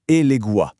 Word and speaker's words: Elegua: Déjà chose importante, on prononce bien Eléguais.